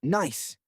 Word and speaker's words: gneiss: The surface is a mosaic of loose gravel and ancient rocks composed of granite and a fascinating stone called gneiss, pronounced nice.